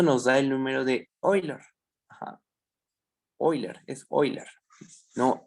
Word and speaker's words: Euler: Es que se escribe Euler, pero se pronuncia Euler. Ese es el detalle. No se dice Órale. Euler.